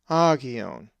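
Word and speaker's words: ἅγιον: The accent is over the alpha, agion. Now let's pronounce this Greek word, which means name, and is number 3686.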